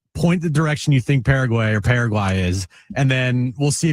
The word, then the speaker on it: Paraguay: Paraguay. Thank you. Paraguay. I mean, were we really going to trust Jim on the pronunciation when he missed the continent?